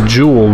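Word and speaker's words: Joule: Her name is Jewel, but it's spelled J-O-U-L-E.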